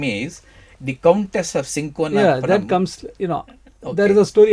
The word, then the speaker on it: cinchona: Quinine is a South American plant or tree coming from a tree called, it's pronounced as cinchona or cinchona.